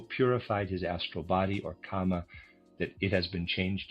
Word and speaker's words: kama: Readers aside and I am pronouncing that correctly or at least not the word karma. It's the word kama k a m a just for clarification there.